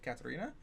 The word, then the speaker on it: Katerina: And no, I typed in her phone number, her name came up, and I said Katerina with the hard TH, and she was like,